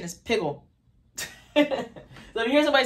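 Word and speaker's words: piggul: foul thing or unclean sacrificial flesh okay ashan's pronunciation is piggle so let you hear somebody say that's piggle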